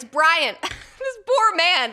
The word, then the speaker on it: Bryan: So, the headline from the Daily Mail reads, "Secret double life of Kristi Noem's cross-dressing husband, Byron." Oh my god, I keep saying Byron. It's Brian.